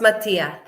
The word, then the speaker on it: Mattia: Okay, it's pronounced Mattia. Ah, Mattia.